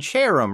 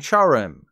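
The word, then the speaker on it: Cherrim: child or something so you'd think they're pronounced cherubi and cherum right that would obviously make the most sense given the spelling and etymology but you're forgetting the evil we're dealing with the official pronunciations are charubi and charim so instead of sitting on a chair when saying these names you have to pretend you're British and act like you're chuffed fun fact even though I've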